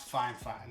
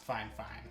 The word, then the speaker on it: Fifine: usb microphone now it's spelled f-i-f-i-n-e but it's pronounced fine fine so just so you know when you're looking